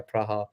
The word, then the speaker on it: Praha: be making that trip to pra it's actually pronounced pra by not pra yeah praha I've been ni I see but I don't